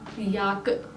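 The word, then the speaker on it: jakke: जैकेट को कहा जाता है याक।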